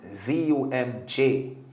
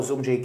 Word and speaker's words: Zumjay: So the name spelled Z-U-M-J. But I put the A-Y on it so people could know the pronunciation, because otherwise people would, you know, call me Zumj. So that's how Zumjay came about.